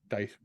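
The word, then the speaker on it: Daes: Dice, how it's pronounced.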